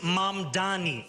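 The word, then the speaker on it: Mamdani: And furthermore, the name is Mom Donnie. M A M D A N I. You should learn how to say it because we got to get it right.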